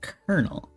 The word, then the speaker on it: colonel: why is it pronounced kernel why is it pronounced with an R sound when it's not spelled with an R because it's a French